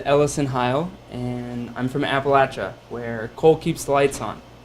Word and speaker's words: Appalachia: a few people and just so everyone knows it's Appalachia and if you don't say it right I'm gonna throw an apple at you so that's a good